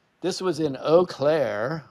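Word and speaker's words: Eau Claire: right this was in oair Wisconsin don't know why they pronounce like that it's O Clair Wisconsin oh but you know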